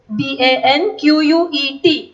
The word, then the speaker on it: banquet: It is banquet. T is silent. B-A-N-Q-U-E-T. असं spelling आहे त्याचं. Pronunciation is banquet.